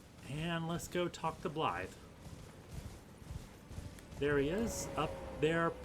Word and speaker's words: Blaidd: it should be pronounced Blade, especially since he's carrying a huge sword. You'd think his name would be Blade, but it's actually Blythe, and it's Welsh for a wolf because he's kind of a wolf.